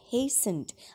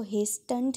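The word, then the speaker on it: hastened: first of these and हेसन आपने इसको हेंड नहीं बोलना बेटे इसमें टी साइलेंट है एंड हेसन बहुत जल्दी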